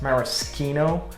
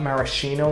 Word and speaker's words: maraschino: another thing about this is that it's actually pronounced maraschino not maraschino like a lot of people say i know